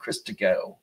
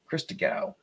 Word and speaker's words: Christgau: You really need, and there is an I between the T and the G, so that you can get that extra syllable in there. Christgau. Christgau. It's Christgau.